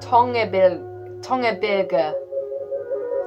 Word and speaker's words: Tongebirge: Okay, this track, Tongebirge, that's how you say it.